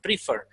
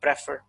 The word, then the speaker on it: prefer: be alone now remember the actual pronunciation of prefer is preferred not prefer right next and see